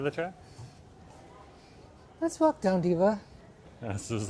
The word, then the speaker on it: Delhi: colonizer names cuz the pronunciation Delhi is a colonizer pronunciation like Bombay that's a colonizer name. Mumbai is what the locals call it. Di is what the locals call it. Not Delhi.